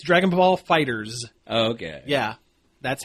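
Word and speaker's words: Dragon Ball FighterZ: I say that because there's a big Z at the end which no one could still tell how you're supposed to pronounce the title of this game it's Dragon Ball Fighters okay yeah that's how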